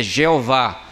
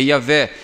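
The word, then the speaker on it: Yahweh: Uma forma não bíblica de se chamar Deus é Jeová. Isso é uma forma não bíblica de você pronunciar a palavra. A palavra que se aproxima mais do contexto dos originais é Yahé.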